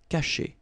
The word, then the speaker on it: cacher: Okay, so remember, when you combine this C and A, you get the sound K, okay? And then che. Cacher.